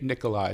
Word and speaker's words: Nicolai: Nicolai. Did I pronounce that right, Adam?